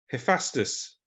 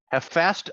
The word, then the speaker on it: Hephaestus: How do you pronounce this word right here? Hey, Hephaestus. Hephaestus.